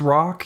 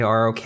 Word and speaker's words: ROK: lion steel rock and it is pronounced rock even though it's written in all capital letters it is i mean it's not an initialism you don't say rok i guess i don't